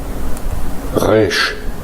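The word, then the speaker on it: ריש: resh, 다음에 resh, 브러쉬. 요게 정확히 말하자면 좀 표현이 어려운데 국예수 전동음이라고 그래가지고 이 혀 말고 목이 떠는 소리예요.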